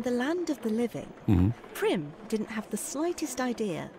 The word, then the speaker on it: Prim: Prim rhymes with grim.